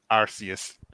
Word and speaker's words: Arceus: people need to start learning how to pronounce arceus properly arceus i think this must